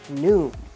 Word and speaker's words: NWM: wired model down here are the letters nwm but you pronounce it new let's peel off this